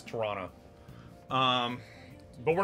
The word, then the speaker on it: Toronto: right thank you oh if you pronounce the second T it's a dead giveaway that you aren't from here yeah Toronto yeah yeah it's Toronto um but we're not